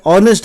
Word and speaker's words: honest: ऑनेस्ट है, HONEST, ऑनेस्ट, तो यहाँ भी O से H साइलेंट हो जाता है, लेकिन हॉर्स होगा तो H रहेगा, हॉर्स रहेगा, ठीक है ना।